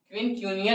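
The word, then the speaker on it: quincuncial: इसे हम लोग क्या पढ़ेंगे, देखिए थोड़े थोड़े से प्रोनाउंसिएशन कीजिए, QUIN, पिन, ठीक है, क्यूनियल, क्विनक्यूनियल एस्टिवेशन।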